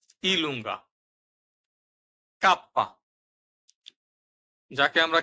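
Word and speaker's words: kappa: আমরা যে বলতাম সেটি ইতালিয়ান ভাষায় ইলুঙ্গা কাপ্পা যাকে আমরা কে হিসেবে চিনতাম এটি হল কাপ্পা দপীয় ভু ডবলিউ হিসেবে আমরা যে অক্ষরটিকে চিনতাম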